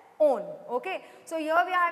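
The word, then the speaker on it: -one: It's not pronounced as one, but it is being pronounced as own.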